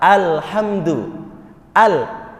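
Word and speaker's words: الحمد لله: suratul Fatihah ini yaitu ketika membacanya Alhamdulillah maka dalam ilmu tajwid itu disebut Isba Isba itu menambah kadar yang sebenarnya hal ini dibaca pendek ini tidak ada Mad nih Al jelas Alhamdulillah ya tidak ada kadar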